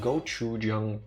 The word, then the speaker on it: gochujang: Motanad, you get half a credit for that because after you kept mentioning it a while ago, we bought gochujang paste. I think is how you pronounce it in English.